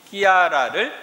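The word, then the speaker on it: Chiara: 본래 세례명은 실비아이지만 아시시의 글라라 성녀가 급진적으로 하느님을 선택한 것에 매료되어 클라라의 이태리 발음인 끼아라를 사용하게 되었습니다. 클라라를 끼아라라고 이렇게 이태리에서 부르는 겁니다.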